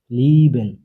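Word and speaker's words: lieben: নয়েন মানে নতুন এ ই এ মিলে হয় ই লিভেন ভালোবাসা এ ই মিলে হয়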